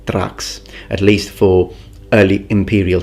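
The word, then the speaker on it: Thraex: i say saturation which in latin would be pronounced a trax that would be the pronunciation tracks at least for early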